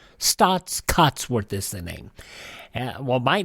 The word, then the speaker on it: Staats Cotsworth: you want to know it's spelled s-t-a-a-t-s cots c-o-t-s worth w-o-r-t-h stots Cuts worth listening and well my